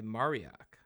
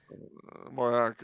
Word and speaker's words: Mauriac: I always mispronounce it. Lavransdatter, Kristen Lavransdatter. All right, and then *The Viper's Tangle* by Mariac. It's interesting. Mauriac, Francois Mauriac, great French writer.